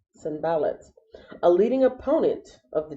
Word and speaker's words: Sanballat: to look to see how do you pronounce this name? Sanballat. Sanballat.